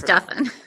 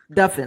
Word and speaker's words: Duffin: It's pronounced like muffin.